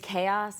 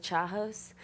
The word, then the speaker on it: chaos: pronounced other ways and like stick with that pronunciation so like I always every time someone says chaos I think chachos because that was and I really thought I